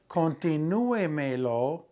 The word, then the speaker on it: continúemelo: If I want to say continue it for me, continúemelo, where's that accent going to be? Continúemelo, it's still going to be on the accented U.